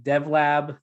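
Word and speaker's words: Dev.Lab: it's an internal product it's called dev lab the dot is silent and the whole point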